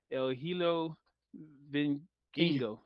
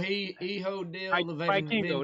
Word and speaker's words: Hijo del Vikingo: But Like, anyway, starting out the pay per view, you got Commander and El Hilo Vinkingo. There we El go. Hijo del Vikingo.